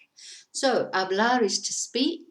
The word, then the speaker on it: hablar: number 1, which is hablar. So hablar is to speak. It's spelt with a H, but we don't pronounce the H.